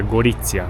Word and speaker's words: Gorizia: Of course it's pronounced Goriția, but I'll tell you how it's written.